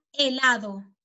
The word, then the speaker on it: helado: Allora, la H è una lettera muta, sì? Per esempio, qua, nel gelato, si pronuncia helado.